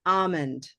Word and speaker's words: almond: The further you get away from saying the L, the better. So try a very exaggerated almond.